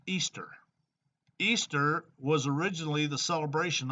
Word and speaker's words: Ishtar: Lucifer and the um this is Ishtar pronounced Easter Easter was originally the